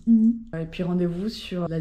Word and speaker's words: Igny: je fonce à ini on prononce ini et puis rendez-vous sur